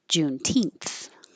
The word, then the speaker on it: Juneteenth: Juneteenth. Juneteenth. June 19th is Juneteenth. We just pushed it together. June 19th is Juneteenth. And that TH is a voiceless th.